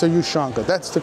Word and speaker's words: ushanka: That's it, I think it's a Yushanka. That's the correct way, Yushanka hats.